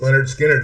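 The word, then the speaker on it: Lynyrd Skynyrd: Leonard Skinner, Pronounced. Leonard Skinner.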